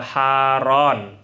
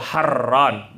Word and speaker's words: Harran: Wa ma'lumun anna Ibrahim alaihissalam hajar minha ila Haran au Harran, bacanya boleh dua.